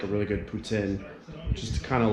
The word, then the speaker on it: poutine: really like is Putin it was pronouncing it wrong earlier I was calling a poutine but it's actually called Putin and someone try to